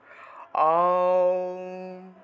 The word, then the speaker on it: ওম: ওমের উচ্চারণটা মুখটা বড় থেকে ছোট হবে, মুখটা একদম 3 আঙ্গুল, মুখে 3 আঙ্গুল পর্যন্ত বড় করবেন, অর্থাৎ আপনার মুখের মধ্যে 3টা আঙ্গুল ঢুকাবেন, ঢুকিয়ে দেখবেন মুখটা যত বড় হয় ঠিক তত বড় থেকে ছোট করবেন। আওম আওম, এইভাবে মুখটা বড় থেকে ছোট হবে।